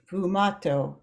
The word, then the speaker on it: sfumato: of the other to make this what's called sfumato.